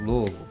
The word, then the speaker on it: Louisville: don't know close enough Louisville say it like you have a marbles in your mouth Louisville Louisville